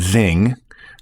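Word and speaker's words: XING: in the US and Zing, and it's spelled X I N G in Europe.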